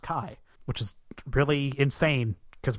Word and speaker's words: Ki: wait it's spelled k-i-ishtar it's spelled Ki but it's actually just pronounced Kai which is really insane